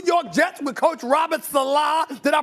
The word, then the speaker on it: Saleh: You mean the New York Jets with Coach Robert Saleh? Did I pronounce his name right? I think it's Saleh.